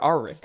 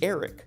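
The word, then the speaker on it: Erryk: knight of the kingsguard she mistakenly calls them sir arik before he corrects her that it's actually Eric but this isn't just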